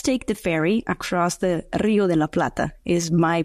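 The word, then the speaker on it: Río de la Plata: and payments let's take the fery ACT the Rio de la PL is my pronunciation correct it's perfect yeah or if you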